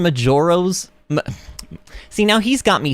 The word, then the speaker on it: Majora's: John says where was Mojo mask on the Zelda list wait Mojo mask do you mean Majora's see now he's got